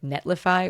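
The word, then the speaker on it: Netlify: used was this thing called like netlifi or neti he said it the guy said it weird but it's spelled ne t l i f y so have whatever mfos goes on whatever syllable uh but you can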